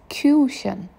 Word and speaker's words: Küchen: Make sure you pronounce it right. It's Küchen.